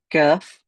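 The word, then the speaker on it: ك: So the kaf just more forward, still via the aqsa lisan, so still via the back of the tongue, and we'll raise it slightly, hitting the hard palate.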